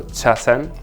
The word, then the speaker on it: chasen: right in japanese uh it was much more common to say sasem actually because you don't have the the cha that's more chinese right so chasen is more japanese pronunciation if you want to